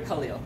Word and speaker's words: Khalil: Peter Khalil. Thank you. How do you spell it? K-H-A-L-I-L. You sound like the writer. Like Khalil Gibran, the poet, yeah. Okay. That's the way it sounds.